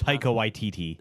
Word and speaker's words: Taika Waititi: How do I pronounce Taika Waititi.